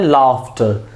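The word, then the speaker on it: laughter: इसी तरह है लाफ्टर, लाफ्टर इस तरह होना चाहिए LAFTER, लाफ्टर, जबकि UGH F की साउंड दे रहा है।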